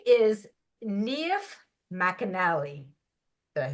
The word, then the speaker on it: Niamh McAnally: Her name is Niamh McAnally. Did I say that right? Excellent. Very good I, pronunciation.